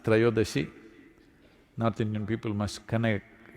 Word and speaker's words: Trayodashi: It is Dhanavantari's Trayodashi. North Indian people must connect, don't go on clipping away one syllable and come Dhanavantari becomes Dhan, Trayodashi becomes Tera. Don't keep clipping it away So, here we are.